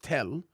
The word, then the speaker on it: Tal: So, this is the Palestinian village of It's spelled t a l, but a t a l, but it's pronounced Tel.